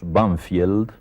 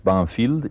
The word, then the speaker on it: Banfield: suburbios de Buenos Aires que nosotros pronunciamos banfield pero que tiene un nombre inglés banfield y ese nombre inglés